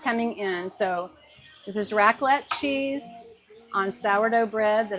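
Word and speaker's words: raclette: We're putting racklet or I don't know if it's rocklet or racklet. It's spelled r a c l e t e.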